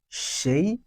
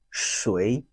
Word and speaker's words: 谁: Who, and we said it has two pronunciation, she or shui, she or shui.